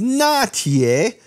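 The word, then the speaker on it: 拿铁: and so that's simply the Chinese pronunciation of latte is not yay so think what's happening there first of all the L turns into an N and you add all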